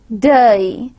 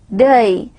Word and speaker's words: day: In exact RP pronunciation, the pronunciation would be involved with gliding of the diphthong. If I'm going to pronounce day, it would be day.